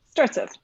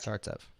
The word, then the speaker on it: Startsev: the show and your last name startsev starts up correct starts up okay for us your